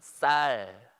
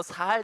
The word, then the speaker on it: 쌀: 자 한번 다 같이 발음해 봅시다. 쌀. 자, 쌀이 안 되고 살 되는 사람 한번 판단해서 알려주세요.